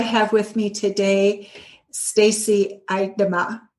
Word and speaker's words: Idema: I have with me today Stacy Idema. Idema, right? I pronounced that correctly.